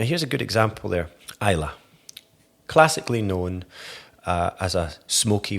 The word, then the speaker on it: Islay: and they know that Islay means smoky, or Isla, as is often mispronounced, they'll flick through a whiskey menu and they'll see Islay and they'll just turn the page completely.